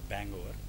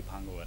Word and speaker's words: Bhangover: जाते हैं लोग उसको, पहले तो प्रोनाउंस ऐसे करते हैं, बैंग ओवर, और एक्चुअली भांग ओवर है सब पूरे के। यूएस से है, हाँ सब यूएस से है। हाँ सब यूएस से हैं, हम लोग बस देसी हैं, तो हम लोग उसको भांग ओवर बोलते हैं।